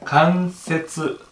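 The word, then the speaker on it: 関節: で、次ね、これ関節、この感じね、関節と読みます。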